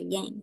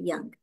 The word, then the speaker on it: Yang: know Yang not me Americans say Yang but it's actually young in Chinese so we invite that